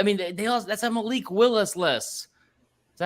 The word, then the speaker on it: Malik Willis: That's a Malik Willis list. Is that how you say it? Malik Willis.